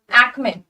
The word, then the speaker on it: acme: एक्मे, pronunciation बहुत आसान है, एक्मे, एक्मे, जो मंथ होता है मे, आप ऐसे बोलोगे एक्मे, ठीक है।